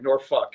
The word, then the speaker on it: Norfolk: Well, there's an L in there, but apparently you don't say that. Norfolk. One lady had me in the store say it right, Norfolk, and I'm like, I can't say it.